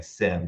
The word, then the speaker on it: SIEM: an acronym and in the way that we're pronouncing it is with an i in it right s-i-e-m which stands